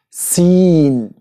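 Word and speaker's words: سين: Seen. Which is pronounced S.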